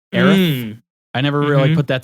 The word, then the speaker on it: Aerith: And somebody had pointed out in this video that I watched that said, even her name is very close to the pronunciation of Earth. Aerith.